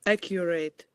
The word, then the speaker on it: accurate: So the accent is on the first syllable.